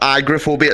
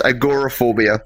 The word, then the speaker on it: agoraphobia: pronounce it right so it's not agrophobia it's agoraphobia it's the fear of going